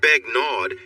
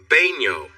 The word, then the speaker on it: Begnaud: It's not Begnaud, it's pronounced Baigno. The D? It's silent.